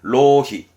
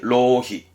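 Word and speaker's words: 浪費: 발음은 로히. 낭비, 로히.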